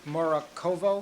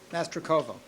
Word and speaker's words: Mastrocovo: Mr. Morakovo, am I pronouncing that Master correct? Kovo? Mastrocovo.